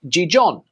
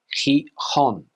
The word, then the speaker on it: Gijón: This city here is not pronounced Gijón. In Spanish, you would say Gijón.